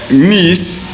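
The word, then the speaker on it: gneiss: from igneous rock uh nice you pronounce this G salad nice is made from granite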